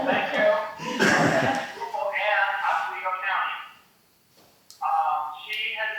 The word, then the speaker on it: Schroeppel: She's a former historian for the town of Schroeppel. Did I pronounce that right, Barbara? No, Schroeppel. Thank you. Schroeppel and Oswego County.